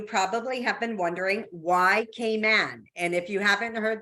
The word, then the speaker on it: Cayman: have been wondering why Cayman and if you haven't heard the little accent there it is pronounced k-man so just K and man is the actual way that we say Cayman Islands so why come and